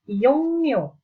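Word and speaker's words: 이용료: Iyong Rio, tulisannya di sini bacanya Iyongmyo.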